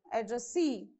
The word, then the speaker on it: addressee: How do you pronounce? Employee, devotee, addressee.